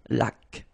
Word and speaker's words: laque: Remember the rule when you get this QU, well, U is not pronounced, so you get k like that. Une laque.